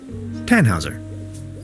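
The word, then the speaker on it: Tannhäuser: why what's your name tanhauser we'd pronounce it with an umlaut German roots yes my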